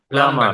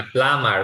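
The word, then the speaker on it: plumber: প্লাম্বার না, প্লামার, প্লামার। মানে B minus হয়ে থাকবে। হ্যাঁ হ্যাঁ, মানে বি উচ্চারণ হবে না।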